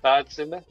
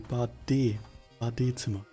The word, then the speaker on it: Badezimmer: Badzimmer? Is that a bathroom? Nearly, Badezimmer. There's the E and the E is pronounced. Not just pronounced, but like emphasized on.